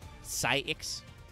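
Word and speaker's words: Psiics: So, if I can trust the OCG, this is supposed to be pronounced basically psychics. It is spelled P-S-I-I-C-S. Like I said, the OCG writes this as Saikusu, so Psyx.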